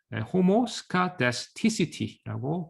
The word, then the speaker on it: homoscedasticity: homoscedasticity라고 발음을 해주게 됩니다.